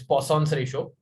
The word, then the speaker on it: Poisson's ratio: whatever you want okay it's not poison it is poisson's ratio denoted by sigma and